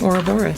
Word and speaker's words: Ouroboros: But it's not like, there's no phonetic. It's just like, going to be exactly as I read it. So all of you are saying it correctly by pronouncing it Ouroboros.